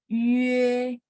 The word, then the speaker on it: yue: Oke, baik, berarti I, he, ei sudah, kita lanjut ke ye sama yue. Masih ingat teman-teman? Titik 2 di atas bacanya mulutnya setengah bulat ya. Jadi Yue.